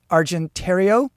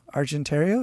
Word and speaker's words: Argentario: Italy was called the argentario I guess it rhymes with Ontario argentario is that like the